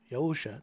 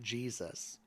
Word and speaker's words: Yahusha: So Jesus is Jesus as well, he's Yahusha. That's the correct pronunciation for his name, not Jesus. The J didn't even come into existence until the 1500s.